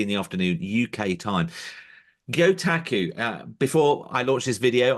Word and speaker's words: Gyotaku: Gyotaku, before I launched this video, I was just rehearsing with you how to pronounce that, and I think I did get it right first You time.